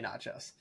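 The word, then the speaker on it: Natchios: of people pronounce it like a little bit of an accent but it's essentially nachos okay uh Electro nachos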